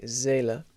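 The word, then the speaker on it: Seele: kind of h zela another zed instead of an s basically zela zein nent after him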